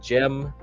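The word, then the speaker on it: Cem: Jem Jem Carson. That that dude like Yeah, that dude's like really into that stuff. So, his name he's a Turkish guy. So, Jem Carson is spelled with a C.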